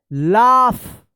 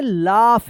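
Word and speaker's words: laugh: एल ए यू जी एच। क्या पढ़ेंगे? लाफ। क्या पढ़ेंगे? लाफ। यहां पे जी एच का फ उच्चारण होगा। लाफ।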